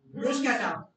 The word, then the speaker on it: bruschetta: The pronunciation is bruschetta.